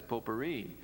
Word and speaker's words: potpourri: this great French word, potpourri. And Harold came to me after the service and said to me, Pastor, he said, the word you used this morning, potpourri, the correct pronunciation of that is potpourri.